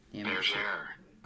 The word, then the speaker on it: bergère: Bergère.